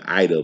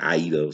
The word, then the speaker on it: Aida: I used to say her name Ida, but people say Aida. So we'll go with that.